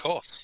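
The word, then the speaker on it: Kos: Cos. Hard C. K-O-S, I wrote down.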